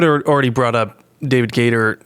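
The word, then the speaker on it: Gaider: you you would have already brought up David Gator Gator that's how you pronounce his name uh David Gator's comments but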